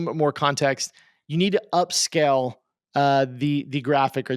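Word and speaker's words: Upscayl: tools use a dedicated upscale soft software there's one that I've been using which is free and it's called upscale but it's spelled funny it's called it's it's spelled upsc a y l upsc a y l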